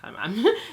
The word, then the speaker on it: Kahneman: That's how you say it, Kahneman.